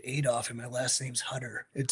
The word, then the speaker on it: Hutter: So now, well, see, this is your last name is pronounced Hutter. Yeah, two So, T's though, so Hutter.